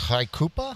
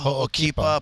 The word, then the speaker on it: Ho'okipa: Surfs Haikupa? Yeah. Is that how you say it? Ho'okipa, Pavils, Point.